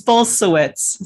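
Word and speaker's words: Bulsiewicz: butcher that word yeah it's bolsuits so it's a it's a Polish name similar to my name but bolsawitz yeah and both Rooks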